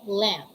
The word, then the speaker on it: lamb: examples we have these examples we have home bomb thong climb tomb prom and lamb what are the other english words you know having this first rule when it comes to silent letter b come on share your